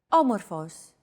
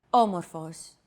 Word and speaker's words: Όμορφος: Όμορφος. Όμορφος. There's a golden rule in Greek concerning accents. The accent mark can only go on one of the three last syllables of a word.